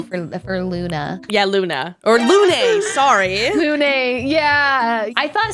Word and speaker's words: Lune: Yeah, I mean, I was saying Lune pronounce it wrong. I was saying Luna, which is, that's an easier mistake to make, I think. Luna is a more common name, I think, than Lune.